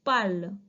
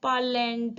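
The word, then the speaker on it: parlent: be tu pearl we i'm not pronouncing ent here it's pal please don't call it as parland or parlan it's wrong it is parlo now you all repeat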